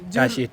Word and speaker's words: Tashi: अच्छा, मैं अभी भी आपका नाम प्रोनाउंस नहीं कर पाऊंगी पर एक बार लास्ट ट्राई करती हूँ। गुरमीत जुरमित ताशी ताशी ताशी TASHI ताशी ताशी।